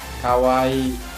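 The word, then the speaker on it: かわいい: Lalu selanjutnya ada kawaii. Seperti yang saya sudah jelaskan, kalau ada huruf-huruf yang double seperti kawaii ini bacanya dipanjangkan. Kawaii artinya lucu atau imut.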